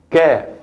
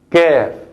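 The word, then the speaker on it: ك: Comparándola con la qaf es muy aguda porque se pronuncia kaf, kaf, kaf, qaf, kaf, qaf, kaf.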